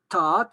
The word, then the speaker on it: tad: dit ta'adik, ta'adou, ta'adou, on écrit T-A-D, eh bien, ce D final va se prononcer T parce qu'il n'y a rien derrière, parce que c'est en finale absolue.